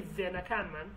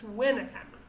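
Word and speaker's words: وێنەکانمان: We never say vel, we never say venakanman. But there are some Kurdish accents, even though he speaks Sorani, but he speaks a Sorani he speaks an Eastern Sorani. So it's a bit different. So that's why he pronounced some of the words strangely, like really strangely. For example, Wenakanman, I've never said Venakanman. It's Wenakanman.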